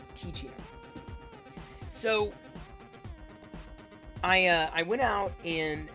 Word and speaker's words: Teeccino: And oops, not Ichino, Ticino.